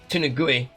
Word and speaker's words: Tenugui: Tenugui.